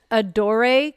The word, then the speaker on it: Adore: this I don't know adore cre and I said Ador Ador cre so it's a d o r e adore is how I would say it and then Crea